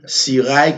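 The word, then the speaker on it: Cirail: Et encore une fois, ou qu'on doit aller sur YouTube, taper Sirail, comme ça se prononce, D-A-V-I-D, Sirail, C-I-R-A-I-L, ou bien taper Hébreu 13:8 TV.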